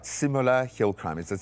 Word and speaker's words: Simola: Simola Hill Crime. Is it simola? Simola.